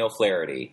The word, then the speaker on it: O'Flaherty: O'Flaherty.